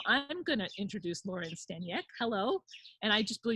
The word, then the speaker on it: Staniec: Even though it's Staniec. pronounced, it's Yeah. spelled. If we were in Poland, Yeah. which is where my, namesake is from, it would actually be pronounced Staniec.